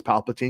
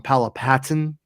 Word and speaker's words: Palpatine: reason why we knew that his name was Palpatine because that's also never said okay and um and um most people said it wrong um I remember people calling them Paula Patton and stuff like that all kinds of stuff